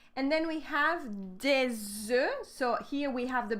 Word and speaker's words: œufs: Un œuf, des œufs. We have the same letters, but not the same pronunciation.